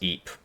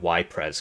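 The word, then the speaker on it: Ypres: I know it's pronounced Eep. I just call it Yres cuz it's funny.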